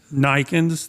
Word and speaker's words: Naaykens: So Yeah, your it's last Naaykens, the 2 A's pronounced like an I, and it's a Dutch name, and that's where I was born and raised.